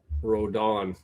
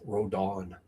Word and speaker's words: Rodon: I want to do the Spanish pronunciation that you see in baseball. Rodon pronounced roden before but that's what I got from the broadcaster.